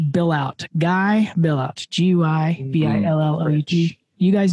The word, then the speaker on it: Billout: It looks like his name is pronounced Billout.